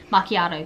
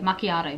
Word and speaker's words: macchiato: And a lady pronounced it for me, so I'm sitting here going, macchiato, macchiato, macchiato, macchiato.